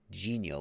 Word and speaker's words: Dinho: And I was like, that is not how you say it. It's Genio, because it's spelled in, for those who don't speak Portuguese, it's spelled D-I-N-H-O. In Brazilian Portuguese, at least, the N-H is pronounced Nha.